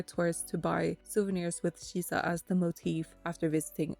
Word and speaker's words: shisa: numbers having different pronunciations, 4 can be pronounced Shi and 3 can be pronounced San. Together, 4 and 3 become Shi-san, which is pronounced similarly to Shisa.